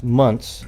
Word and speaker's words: months: at least 7 months, and that's months, M-U-N-T-S, not months. There's nobody ever says months, so for you new out there, you'll be lying if you say months and pronounce the T-H, right?